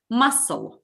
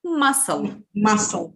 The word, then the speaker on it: muscle: pronounced listen to me muscle muscle muscle what is a silent letter here ladies c c yeah we don't pronounce it muscle okay right what